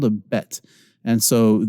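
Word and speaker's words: בּ: a bet and so the top row with a dot you pronounce as a BA and when you say BA go and pronounce but with me but your lips come together and you have this mild explosive expulsion of air but but and that's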